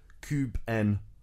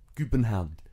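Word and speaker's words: København: They say, bear with me on this one, Kubenhound. Kubenhound.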